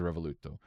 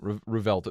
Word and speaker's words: Revuelto: I think it was a Revoluto, but Revuelto? Revuelto, however you pronounce it. Yeah, Revuelto. There's 11.